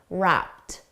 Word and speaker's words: wrapped: For pronunciation, notice wrapped. The ED is pronounced as a soft T, wrapped.